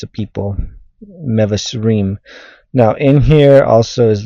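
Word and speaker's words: מבשרים: Now the word here is mevasrim.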